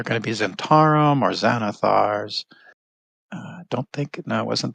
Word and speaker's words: Xanathar: Well, Xanathar starts with an X. I know, but it's a Z sound when you pronounce it.